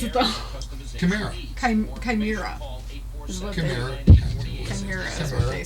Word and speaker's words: chimera: I had to look up on Google how to pronounce it, though. Chimera. Chimera. Chimera. Chimera is what they said.